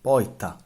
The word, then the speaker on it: porta: In the Palermo dialect, when r is followed by a consonant, it's pronounced like I. The word for door Porta. is pronounced. Poita.